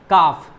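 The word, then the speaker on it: calf: अब इसे क्या पढ़ेंगे, हाफ, ना कि हाफ नहीं बोलना है, हाफ, काफ, वाफ, इस तरीके से। आपने बचपन से ही पढ़ा होगा साइलेंट लेटर के बारे में कि साइलेंट लेटर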